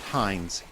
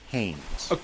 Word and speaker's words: Haines: No, not Hines. Haines.